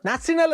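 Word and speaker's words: National: ഈ പുതിയ പേരിലെ നാഷണൽ എന്നത് ജർമ്മൻകാർ ഉച്ചരിച്ചിരുന്ന രീതിയിൽ നിന്നാണ് പിന്നീട് നാസി പാർട്ടി എന്നായി മാറുന്നത്. നാസിനൽ എന്നൊക്കെയായിരുന്നു ജർമ്മനിലെ അതിൻ്റെ ഉച്ചാരണം.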